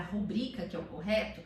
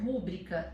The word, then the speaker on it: rubrica: A sílaba tônica dela é rubrica, então é o bri, que é uma paroxítona.